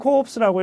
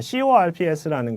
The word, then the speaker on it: Corps: 뭐가 문제냐면은 The Marine Corps라고 이렇게 하면은 해병대원들의 시체들이라는 뜻이 됩니다. 자, CORPS라는 것이 P와 S가 둘 다 무급이 됩니다. 그래서 The Marine Corps 이렇게 발음을 해주셔야 됩니다.